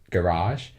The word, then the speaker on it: garage: The game also has what it's called Toy-Con Garage. I said that like an American. Yeah. Like, we British say garage, so I'm going to say that right.